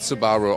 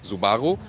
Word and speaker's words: Subaru: By the way, in Germany we always say Subaru. In the Japanese original pronunciation it's also kind of similar, like Subaru. but the US pronunciation is more like Subaru, like kangaroo.